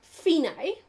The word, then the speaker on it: fine: the second line DC are fine it's actually pronounced finae and it means end so our finite means